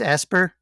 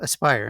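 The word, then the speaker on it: Aspyr: it because I think it's asper that's doing the trilogy I think oh Aspire I've been saying it wrong yeah I figured they're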